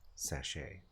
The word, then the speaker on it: sachet: You would pronounce this word sachet. A sachet.